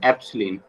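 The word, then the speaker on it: ε: ठीक है, इसे बोलेंगे एप्सिलिन, इसे प्रोनाउंस करेंगे हम एप्सिलिन, EPSILIN, एप्सिलिन, ठीक है।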